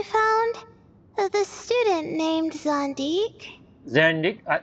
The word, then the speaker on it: Zandik: Zandik. It's pronounced Zandik. I call Zandik, but Zandik.